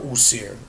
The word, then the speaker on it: Osiris: When somebody per se says Osiris is their ancestor, okay, or Usir, depending on what pronunciation and script you're coming from, you're telling me that